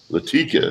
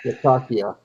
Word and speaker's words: Latakia: Latika. Is that how you pronounce that? Latakia. Latakia? Lata is Lata. Kia is Kia. Latakia.